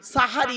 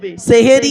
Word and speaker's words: সাহারি: শেষ অংশের খাবারকে আরবিতে সাহারি বলে তাহলে শব্দটা কি হবে সেহেরি না সাহারি খবরদার সেহরি শব্দটা বলবেন না কিন্তু দুঃখের বিষয় কি